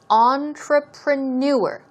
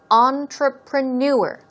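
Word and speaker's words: entrepreneur: here we go now notice the stress goes on the last syllable on the fourth syllable and it is entreprenuer entreprenuer one more time stress goes right there entreprenuer okay we're talking about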